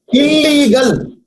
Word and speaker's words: illegal: Say, for example, illegal. The root word legal is stressed on the first syllable, not ill.